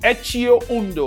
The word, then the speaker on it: Etxeondo: Ettoundo is a Spanish company that sponsors um the movie star team. Let me get one of their generic shorts right here. Okay, is pronounced etchio uno like e c.